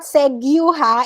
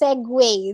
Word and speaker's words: segue: anyway hyperbole prestige juice key said it's not seguha it's segue that's how you that's how you spell segway